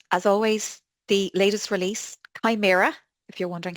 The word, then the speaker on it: Chimaera: And as always, the latest release, Chimera, if you're wondering how to pronounce it, landed on Monday morning.